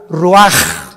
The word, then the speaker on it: ruaj: Roach así como suena se pronuncia la c en hebreo como J ruaj se le salló y